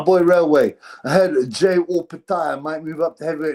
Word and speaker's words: Opetaia: Because weirdly, Jai pronounces it, he doesn't care. He responds to J and Jai. Not only that, but also he says Opetaia. There's a video of him saying Opetaia, but a Samoan says,